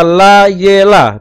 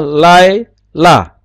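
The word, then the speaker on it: לילה: sefanya ini sewa bersuara maka layela tapi itu salah harusnya Layla bacanya Nah kalau didahului vocal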